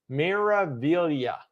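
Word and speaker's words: Meraviglia: far as I know Mira Villa I believe the g is silent miravillia is what uh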